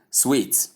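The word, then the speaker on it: suite: We simply go to number 8, which is sweet. This is another tricky word that has a tricky kind of pronunciation.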